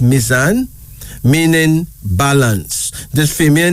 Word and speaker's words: Mizan: Mizan, pronounced Mizan, meaning balance.